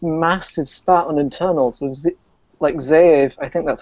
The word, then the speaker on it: Zeev: I say Zeev, but I know it's not how his name's supposed to be said.